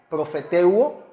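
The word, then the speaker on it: προφητεύω: Aquí le pongo cómo es que se pronuncia. Esta palabra es profeteuo, que significa profetizar, profetizar.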